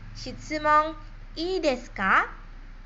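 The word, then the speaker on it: 質問いいですか: Shitsumon ii desu ka?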